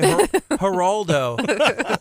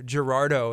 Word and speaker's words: Gerardo: kid and they're like okay Geraldo it's not there's no L there's an R Gerardo if you were gonna